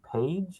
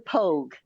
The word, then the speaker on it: Pogue: I'm going to say Page. Is that how you pronounce his last name? P O A No, G E. George Coleman Pogue.